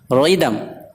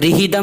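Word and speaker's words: rhythm: نہیں پڑھا جاتا، گوسٹ۔ ریدم، ریدم وزن یا تال، اسے ریدم نہیں پڑھیں گے، ریدم وزن یا تال۔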